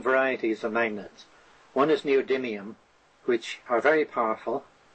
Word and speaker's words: neodymium: have I don't know if I'm going to pronounce this right, the neodymium magnets.